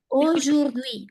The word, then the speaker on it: aujourd'hui: O yurdui.